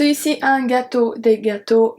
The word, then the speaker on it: gâteaux: So you see un gâteau, des gâteaux. Gâteau is pronounced exactly the same, but we add the X when it's plural.